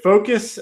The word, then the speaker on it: Focos: It's called Focus. It's spelled Focos, and we'll have it in the show notes.